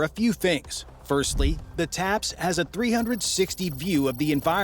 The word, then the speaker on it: TAPS: The main way that the tank differs is that it has a brand new system called a Top Attack Protection System, TAPS, pronounced TAPS.